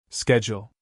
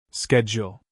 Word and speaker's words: schedule: Schedule. Schedule in American English, United States. Schedule. Schedule. In British English, United Kingdom, schedule.